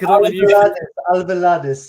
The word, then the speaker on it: Alvalade: You're gonna laugh at this now, at the Estadio Jose Alvalade, is it? Is that how you pronounce it, Mike? Alvalades, yes.